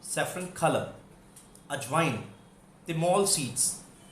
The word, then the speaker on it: thymol: ये अगर अभी आप ध्यान रख सकते हैं, इंग्लिश में थ की साउंड नहीं होती तो त करके बोला जाता है। इसकी स्पेलिंग जरूर THYMOL है, पर इसको थिमोल ना बोलकर तिमोल, तिमोल सीड्स, सीड्स।